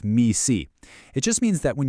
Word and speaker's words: MECE: It's pronounced MECE.